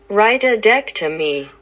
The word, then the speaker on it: rhytidectomy: I just had to pronounce this shit. Hello? Rhytidectomy.